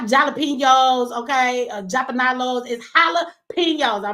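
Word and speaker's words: jalapeños: gonna stop tequila and the tacos and no jalapenos none of that and what's up everybody calling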